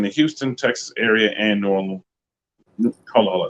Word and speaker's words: New Orleans: Going down, full license and bonded, out of service in the Houston, Texas area and New Orleans. Hold on, say it like it's supposed to say it. Nowlands, service in Nowlands, and also Houston, Texas.